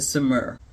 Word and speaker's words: Saumur: I've heard 3 to 4 different pronunciations of this bag, and I think the one that is the right one is the Saumur.